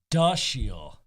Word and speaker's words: Dashiell: It's Dashiell. As in, like, duh.